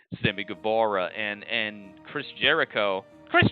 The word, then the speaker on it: Guevara: because the sex gods sammy guevara and uh sammy gabora gotta say it like that sami gabora and and chris jericho